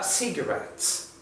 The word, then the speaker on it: cigarettes: So, in this word, the stress syllable is red. So you pronounce cigarettes.